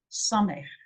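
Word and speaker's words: ס: There is the S, the Samech, the S, Samech. Okay?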